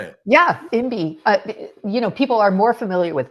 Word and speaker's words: Imby: Yeah, Imby.